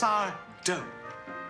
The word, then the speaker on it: Sardo: It's Sardo. No Mr. Accent on the do.